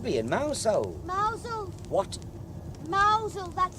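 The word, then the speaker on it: Mousehole: time we should be in now so what mausole that's how it's pronounced what are you talking about it's spelled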